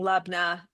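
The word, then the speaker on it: labneh: but okay or lna lena did you say lebna I think I said lebna yeah I I think that that that is I I hear people saying lena as well um so that one I think is probably a little more flexible that's okay and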